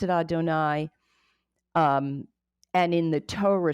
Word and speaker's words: Adonai: you do two little Ys Adonai and you pronounce it Adonai um and in the Torah scroll itself you